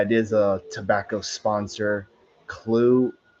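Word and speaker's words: Clew: Clue. It's spelled C L E W.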